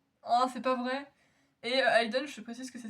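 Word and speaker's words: Hayden: Ça me dit quelque chose très puis tu pourras aller chercher Aiden aussi parce que je sais pas qui c'est mais c'est vos enfants avec avec monsieur Jefferson.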